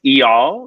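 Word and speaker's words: Eyal: with her boyfriend e-e-e-o how do you pronounce that e-y-a-l i think it's e-all yeah he was hot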